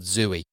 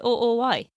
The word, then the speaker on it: Zooey: But did you know her name was spelled with two O's? No, I did not. So is that make... So is it Zooey? Zooey. Oh. So it's like Zoe. Zooey. Zoe. Yeah, well, however you want